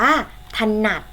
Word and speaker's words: ถนัด: ว่า ถนัด นะ คะ ออก เสียง อะ กึ่ง เสียง ใน พยางค์ แรก ค่ะ พยางค์ ข้าง หลัง ออก เสียง เหมือน มี หอ หีบ มา นำ นะ คะ หอ นอ อะ ดอก หนัก ดัง นั้น คำ นี้ อ่าน ว่า ถนัด และ อีก ครั้ง นะ